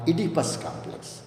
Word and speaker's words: Oedipus: father okay this type of complex we call idipus this type of complexes complex the spelling is silent so the Oedipus complex describes these feelings of wanting to possess